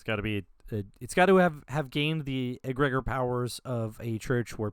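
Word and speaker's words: egregore: I say egregor, but apparently it's pronounced agregor.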